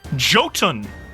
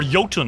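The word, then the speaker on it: Jotun: Um, and I think after the fireball, a roar goes out in uh Does anyone speak Joton? I'm sure or Yoten, I think it's pronounced.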